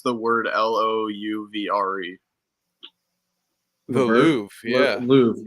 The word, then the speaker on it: Louvre: How do you pronounce the word Louvre? The Louvre, yeah. The Louvre, yeah.